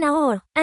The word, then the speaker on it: hour: Use and when h is silent, যখন h অনুচ্চারিত থাকে তখন and ব্যবহার করুন। An hour, an honest man.